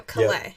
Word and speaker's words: Calais: He pronounces his name different than Calais Campbell. Okay, that's good to know. Calais. Yeah, he is from Louisiana, so he uses the French, where they...